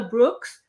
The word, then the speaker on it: Brooks: you ever experienced well here in France they they call me Brook they drop the ass I mean yeah you